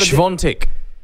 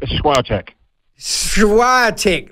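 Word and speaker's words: Świątek: say it you say it you you've got svantek that's how i was told to say it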